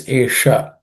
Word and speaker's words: एषा: Esha, the sha is again aspirated sha.